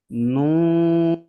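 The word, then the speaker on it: نون: মিম মিম মিম আবার মিম মিম মিম নুন এইযে এটা উচ্চারণ করতে ঠোট কেমন হবে গোল হবে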